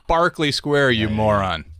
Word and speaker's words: Berkeley: I was like, I was over in Berkeley Square, and they're like, It's Barclay Square, you moron.